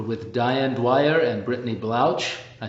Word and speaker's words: Blouch: Well, It's crazy because they're Germans, so they're like, oh, ch. It's actually Blouch with like a hard K.